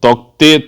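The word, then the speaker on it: Tauktae: है, तोते आगे होगा, और तोते के इसमें साइलेंट है, उनके प्रोनाउंसिएशन में दे रखा है, ध्यान रखिएगा, तभी मैं तोते बोल रहा हूँ, तो तोता नहीं है ये, तोक ते का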